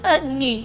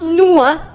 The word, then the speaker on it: 女: But based on my 6 years, it's actually pronounced as 女 and you. Oh, 女, yeah, not nu, not nu and not that, it's 女 and you.